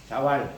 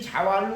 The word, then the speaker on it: 자왈: 본래 전통적으로는 이라고 썼어. 자이왈 이래야 돼. 이래서 재왈이 된 거예요. 자왈 그렇게 안 했어요. 옛날에는 재왈 그렇게 읽었지. 그게 공자이왈 이런 뜻이에요. 그런데 어쨌든 이 자왈로 시작하는 하기편의 첫 장은 시습장이야.